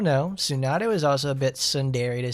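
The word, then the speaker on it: tsundere: I've been saying it wrong since I was a boy. She's not sununady. She's sundere.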